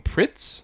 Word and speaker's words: Pretz: of her she's like you mean pritz like it's spelled prince why would you pronounce it pritz she's like we just we just do that's another japanese thing